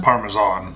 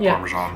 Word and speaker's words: Parmesan: Parmesan, not Parmesan. I know, I always say it wrong too.